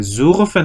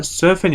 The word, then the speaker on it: surfen: 수르펜 하고 있지 않아요. 이거 그러니까 검증되지 않은 그 독일어 강사들이 가끔 가다가 이런 식으로 수르펜 한다든가 뭐 말도 안 되는 게 있는 경우 있는데 정확하게 서펜이라고 발음하도록 되어 있습니다. 저거 꼭 주의하시고 혹시라도 그런 식으로 설명하는 사람이 있으면 가볍게 무시하고 넘어가시면 돼요. 서펜이 맞습니다.